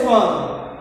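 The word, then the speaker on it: Schwann: स्वान का मतलब कुत्ता, कुत्ता क्या होता है?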